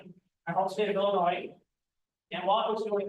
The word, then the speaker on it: Illinois: Not Illinois, it's Illinois. Yes, is silent.